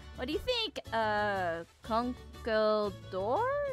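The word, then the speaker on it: Conkeldurr: do you think uh conkle door it's how you say the Pokemon it's been a while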